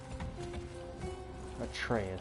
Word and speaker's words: Atreus: Atreus, that's how you say his name.